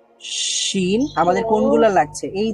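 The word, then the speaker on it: شين: এই মধ্যভাগটাই লাগবে না এই মধ্যভাগের সাইডের অংশগুলো লাগবে উচ্চারণ করার সময় তো এখান থেকে কি উচ্চারিত হয় জিম জিম শিন আমাদের কোনগুলো লাগছে এই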